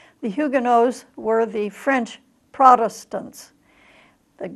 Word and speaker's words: Huguenot: pictures here of the Hyuga knows the Dubois or Dubois which is the French pronunciation simply means of the